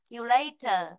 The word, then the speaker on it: calculator: Yeah, calculator.